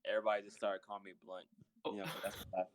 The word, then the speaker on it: Blount: it was as Blount. Blount? Blount. Nah, dude, my middle name's something else, but like my last name is Blunt. It's spelled with a O, but that's how you pronounce it.